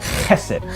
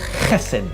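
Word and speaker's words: חסד: the word is Essen to pronounce it right you really have to work your throat guess it guessin it's often translated as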